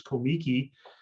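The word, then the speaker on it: Comique: What Buster Keaton Production was essentially the same company that was known as Komiki, as Roscoe Arbuckle pronounced it, and Buster wasn't part of that package at that time.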